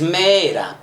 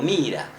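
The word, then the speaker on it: Meera: Las dos formas, o sea, es Mera, pero se pronuncia, algunos lo pronuncian como Mira, y otros como...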